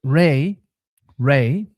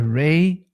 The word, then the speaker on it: Ra: Ray was the most likely pronunciation for the name of what we call Ra. That stupid pronunciation was put into our brains by the establishment for a reason.